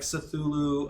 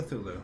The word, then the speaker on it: Cthulhu: He also brings in some fun like Cthulhu Yeah.